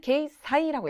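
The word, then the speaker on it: 掲載: 게제는 게이 사이라고 했습니다.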